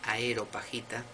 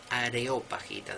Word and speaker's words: Areopagita: de pseudo Dionisio areopagita y no es aerop pajita que a mí me ha pasado mil veces de pronunciarlo así por pronunciarlo rápido es areopagita del areópago no del aerópago areópago bueno dos libros